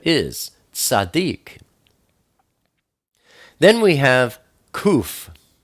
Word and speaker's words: Kuf: Then we have kuf. Kuf is the number 100, and it's pronounced like a K, like cough.